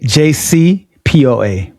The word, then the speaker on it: JCPOA: JC Po A.